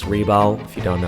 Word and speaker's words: Rebal: It's Reebal. If you don't know how to pronounce my name, thought we were close.